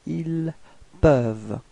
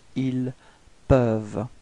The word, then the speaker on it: ils peuvent: Okay, for ils au pluriel, then you get ils peuvent. Repeat. Ils peuvent. Okay, so as usual, you've got this E-N-T at the end, but then you don't pronounce it. You only pronounce ils peuvent.